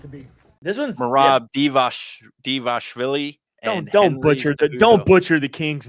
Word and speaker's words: Dvalishvili: But anyways, yeah, Cejudo, Merab Dvalishvili. I think that's how you pronounce it right there. Dvalishvili. Okay. Yeah, the future champ, without a doubt.